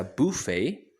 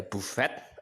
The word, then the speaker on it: buffet: buffet breakfast buffet breakfast buffet ini anda saya kasih penekanan sedikit dulu karena banyak yang suka salah bacanya tulisannya buff4 hanya bisa Bu vei atau bisa by tanya nggak dibaca jadi jangan dibaca Bu fat atau fat APV drives a buffet breakfast